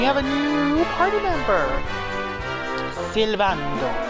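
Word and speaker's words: Sylvando: Silvando. You have to say it like that. And roll the S. Silvando.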